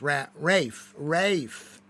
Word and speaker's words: Ralph: Silent L in Ralph. Ralph. No, there's not a... How do you pronounce Ralph? I pronounce it with an L.